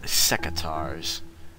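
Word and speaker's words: secateurs: at some point also I had no idea they were pronounced secars but the English are weird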